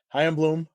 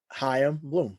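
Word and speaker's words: Chaim Bloom: his name ran Bloom say his name hi am Bloom one more time one more time hi am Bloom let's say say it together kid hi am Bloom am Bloom yeah so yeah so well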